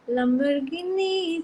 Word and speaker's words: Lamborghini: No, the issue is because of the song Lamborghini Chalai Jane or something like that. That song, what happens is now you don't say Lamborghini, which is the actual pronunciation.